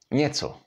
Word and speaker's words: Něco: And the last one is the example with n and s háčkem, and in this case you have to change n into ň. Alright, let's try this. Něco, and it means something.